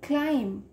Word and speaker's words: climb: तो बच्चों देखो, वी are speaking क्लाइंब, बी हम पूरा तो नहीं बोल रहे ना, हम क्या बोल रहे हैं, क्लाइंब. Okay, B is silent in द एंड, सो हमने टाइम वर्ड लिया यहाँ पे.